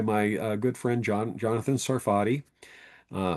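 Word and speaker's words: Sarfati: Uh, one is by my good friend John Jonathan Sarati. uh Saridy is actually how I pronounce his name and Joel Tay with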